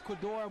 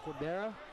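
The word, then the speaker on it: Cordeiro: Look at hands up high, that Rafael Cordora Muay Thai style. Cordora, tomato. I'm white, I can't say it right. I'm sorry, everyone at home. Rafael Cordera. Rafael Cordera, yeah, that's right.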